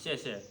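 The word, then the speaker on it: 谢谢: 谢谢.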